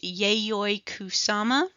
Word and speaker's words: Yayoi Kusama: who this lady is I believe her name is pronounced yayoi kusama um here on Wikipedia